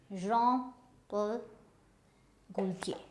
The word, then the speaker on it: Jean-Paul Gaultier: And so how do we pronounce it? This is Jean-Paul Gaultier.